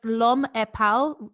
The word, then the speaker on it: L'Homme est pâle: It's L'Homme est pâle, because in French that means the man is pale.